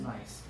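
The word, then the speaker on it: gneiss: whatever t y nice um when you break nice it tends to break against the the filiation because it's as separated that's spelled g e g n e i SS it's pronounced nice I didn't make it up so uh you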